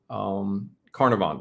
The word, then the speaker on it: Carnarvon: Carnarvon, that's how you pronounce it.